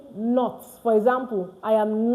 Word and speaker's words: ne: It's pronounced as no. Ne is not n. N is pronounced as no because letter e is in French. So that's why ne is pronounced no in French.